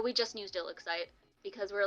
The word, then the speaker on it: ILLIXCITE: And then like we were like, "It's ILLIXCITE," and then they're like, "You didn't say anything?"